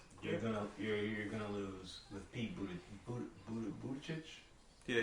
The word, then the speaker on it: Buttigieg: You're gonna lose with Pete Buttigieg. Yeah, you said it right. Buttigieg. Yeah, that's not gonna get. Sounds like booty chitch.